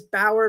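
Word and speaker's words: Bower: If you're not on YouTube, our YouTube channel is Bauer Media.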